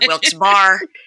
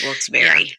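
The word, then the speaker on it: Wilkes-Barre: to say it correctly it's not wils bar it's wilss Berry yep it is it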